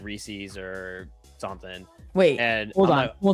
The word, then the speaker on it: Reese's: Reese's Pieces, because it rhymes.